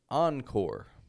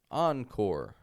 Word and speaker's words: encore: and by the way we don't do the complete French pronunciation it is a mix of an American and French pronunciation I'll show you an example the word encore encore an encore is usually